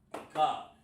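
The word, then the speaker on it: אחד: You want to say in Hebrew 1, you say this, Akkad.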